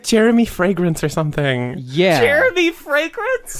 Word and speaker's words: Fragrance: It's pronounced fragrance.